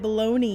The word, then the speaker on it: bologna: Bologna. We call it bologoney.